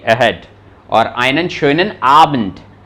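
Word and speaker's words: schönen: और आइनन शोनन आबंड, तो प्रोनाउंसिएशन आपका प्रॉपर होना चाहिए, उमलाउट आते ही वो साउंड निकलना चाहिए, शोनन, आइनन शोनन, शोनन नहीं, आइनन शोनन ठाग, शोए नहीं, show show, शोनन ठाग, आइनन शोनन ठाग, आइनन शोनन आबंड।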